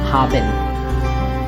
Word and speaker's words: haben: Hab and N. Haben.